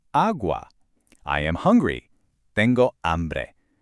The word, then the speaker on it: hambre: Tengo hambre. And there's our silent H rule popping up one more time.